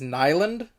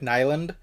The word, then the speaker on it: Nylund: was written by Eric, I believe the way you say his name is Nylund, but it could be different. But for now, I'll be pronouncing it Eric Nylund.